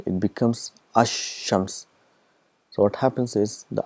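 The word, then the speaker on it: الشمس: Whereas in previous, if you see ash-shams, the lam is not produced.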